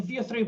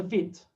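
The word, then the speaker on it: Vite: next thing that the V3 brings is a vit and it's pronounced vit not V just just make sure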